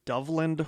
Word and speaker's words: Doveland: oh a local story Dove land or doveland I've heard it pronounced both ways I think it's Dublin d-o-v-e-l-a-n-d Dublin yeah that's what I was like I've heard people call it Dove land on podcasts too but yeah Dublin Wisconsin